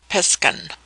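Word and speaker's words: Piskun: Pronounced Piskan.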